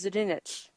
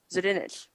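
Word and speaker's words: Zdunich: page but uh i always say zidnik it's zadinich zudinnich that's actually how you say it from repo the genetic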